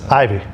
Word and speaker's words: Ivy: it makes me feel it's just Ivy ivy yeah like poison ivy because the way you say it Adam IV it almost is like Roman numeral four yeah yeah I'm like